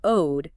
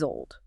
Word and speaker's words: old: For the listener practicing right now, I would say always include years old and focus on the distinct full sound of the L in old. It's not owed, it is old.